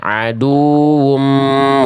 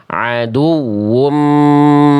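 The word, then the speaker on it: عدو: Jadi dibacanya jangan lempeng ya aduum mudillu. Tapi tekan huruf wau yang membuat atau nabrarkan nabrahkan huruf wau yang membuat nanti suara huruf wya lebih meninggi dibanding sekitarnya ya.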